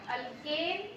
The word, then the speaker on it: alkane: Okay, क्या difference है, इधर ए है, इधर ई and then Y, अल्केन, अल्कीन एंड अल्काइन। Remember the pronunciation, don't confuse.